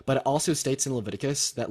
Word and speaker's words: Leviticus: sweet so yeah it's not pronounced Leviticus or however the you said it it's pronounced Leviticus right Leviticus right and so it does say